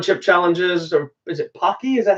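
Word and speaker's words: Paqui: what the one chip challenges or is it Pocky is that how you say it yes rocky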